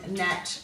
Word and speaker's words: gnat: And we're looking at the silent G in sign, design, assign, gnat, gnome, and gnarly. Now, if you have a look at that silent G, it's coming before an N, so you might like